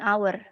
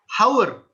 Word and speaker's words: hour: Oleh karena itu, you don't pronounce this as hour. Ya, bukan hour. Ya, karena walaupun it's preceded with a letter H, but the H is not pronounced.